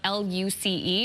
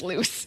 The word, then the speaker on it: Luce: it's called, it's spelled L-U-C-E, and I bet you it's not pronounced loose. So I'm going to look it up. Luce.